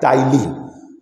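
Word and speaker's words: ptyalin: भी कहा जाता है, या टाइलिन, टाइलिन पी साइलेंट होता है, और वो एक्ट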